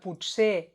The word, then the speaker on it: potser: Per cert, t'has adonat que potser i pot ser s'escriuen i es pronuncien diferent.